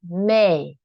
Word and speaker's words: May: We don't really pronounce the A at the end. May, no. It's not strong. May, no. It's May, May, May.